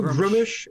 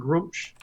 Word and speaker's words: Gruumsh: Grumish or Grumsh. Either work. Okay. I think I say technically Grumish might be correct if you look it up, but I've already said Grumsh.